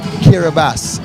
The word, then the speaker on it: Kiribati: spelling but this is kiribas it's spelled k-i-r-i-b-a-t-i yet it is pronounced kiribas it's made up of